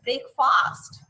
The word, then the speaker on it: breakfast: The correct pronunciation is breakfast, not fast. Okay, not fast, that ast.